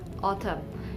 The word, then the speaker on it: autumn: Autumn, AUTUMN. Likewise, when N comes after M in the ending part of a word, it is silent.